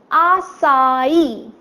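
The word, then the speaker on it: açaí: it I'm sorry now the pronunciation is quite simple we have our tents our and the third syllable is plane II but slightly higher in pitch so it's our sigh right it's our sign and it's nothing but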